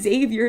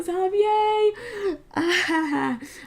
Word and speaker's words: Xavier: his name is zavier I literally swear you say this Xavier this is Xavier not zavier I'm not over that